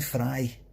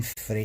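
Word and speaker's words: Frey: by going glenn a clown free it's glenn frye greg i told you i know it's permanent i know it's spelt for a bit it's pretty it's pronounced for eye for the eagles coin free it's called it's called frye you were going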